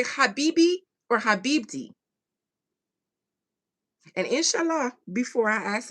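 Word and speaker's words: حبيبتي: Habibti. It means, oh, it is pronounced with a T.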